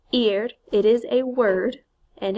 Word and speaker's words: ir: is not a typical IR verb so it's pronounced eared it is a word and it means to